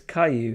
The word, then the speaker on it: Caillou: Reminding me of it's Caillou, isn't it?